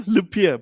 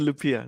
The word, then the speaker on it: Lupiya: asked you how to say it yeah no lupia lupia that's it okay cool yeah and you're from